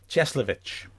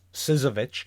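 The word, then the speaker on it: Cieślewicz: So it was Adrian Cieslewicz. It's fair enough. Everyone at the club called him Sis because they'd decided he was Sizovic.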